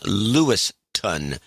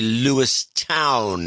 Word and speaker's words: Lewistown: a town in Montana John pronounced the town Louis ton but it's actually Louis town hmm I grew up